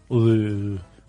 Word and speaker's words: Louvre: Louvre. You have to say it like that.